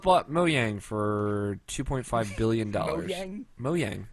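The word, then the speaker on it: Mojang: moang for $2.5 billion moang that's how you say it moang moang is how you say it I watched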